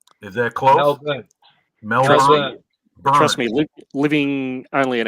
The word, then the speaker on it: Melbourne: Melbourne. Is that close? Melbourne. Trust me, living only an hour from Melbourne, hearing people mispronounce it just drives me nuts.